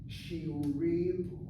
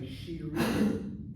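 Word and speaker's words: שיעורים: Shiurim are lessons. The difficulty of that word shiur is if you don't pronounce your Hebrew carefully, it sounds like shirim.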